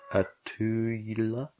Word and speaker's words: Inelia: Yeah, and one of our friends on that chat, Inelia, I don't know how to actually say her name. Inelia.